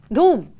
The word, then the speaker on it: Dhoom: It rhymes with boom. Dhoom. Correct.